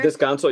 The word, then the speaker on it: Descanso: Descanso, yeah.